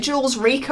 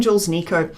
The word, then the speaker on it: Jules Rico: he featured in at jules rico i always call him jules nico he's carrying a um